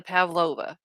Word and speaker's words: pavlova: a recipe for the Pavlova did I say it correctly yep okay all the Aussies